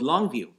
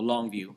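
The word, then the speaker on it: Longue Vue: family, and it's called Longview, and it's spelled really weird. Longview, L-O. It's like tongue, how you spell tongue, Yeah. but with an L, and view would be VUE. So Longview.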